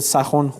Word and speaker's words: سخن: 'Sepahbod' means general or commander, referring to Abu Mansur And 'Sokhan' read 'sakhon' which is the correct way to say it Here means story or tale.